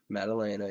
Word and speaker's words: Maddalena: Maddalena, yep.